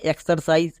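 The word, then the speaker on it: exercise: হবে মানে এগুলো রুলস ফ্লো করবে না যেমন এক্সারসাইজ টক্সিন বক্সার এখানেও দেখো এক্স আছে এবং এক্স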